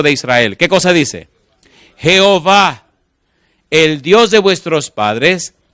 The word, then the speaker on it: Jehová: nombre Jehová en realidad Cuando el nombre de Dios se escribe no hay manera de pronunciarlo porque son cuatro consonantes jhw los masoretas le pusieron las vocales de la palabra adonay que significa señor y conformaron Enton e o a que es Jehová O a e que